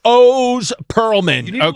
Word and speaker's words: Oz Pearlman: It's not pronounced the way it's it looks. No, it's O's Pearlman.